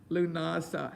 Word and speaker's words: Lughnasadh: some more diversity about lunasah how do you spell it l u g h that's lou nasa n a s a that's one way and some add a d and an h on it a modern version is